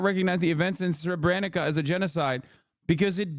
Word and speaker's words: Srebrenica: that Israel does not recognize the events in Srebrenica as a genocide because it belittles the term, pronounced Srebrenica. Srebrenica.